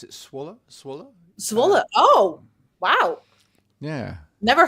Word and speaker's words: Zwolle: I think you pronounce it Zwolle. Zwolle.